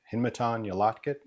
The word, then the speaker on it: Hinmaton Yalatkit: To help you out, it's pronounced Hin Ma Ton Yolotkit. My first and middle name, Hinmatan Yolotkit, is a Native American name, meaning rolling thunder from the water into the mountains.